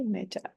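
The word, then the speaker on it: metta: it's still quite astonishing so uh it's it's spelled with two T's m e TTA a okay meta and it means loving kindness although sometimes it's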